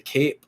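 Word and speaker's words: Kape: Man, Cape, man, he is a Cape or Cop, or I don't know how to pronounce it, but I think it's Cape. Cape, okay.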